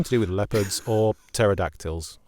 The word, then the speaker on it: pterodactyls: Nothing to do with leopards or pterodactyls, as soon as I saw silent P at the beginning of the terror.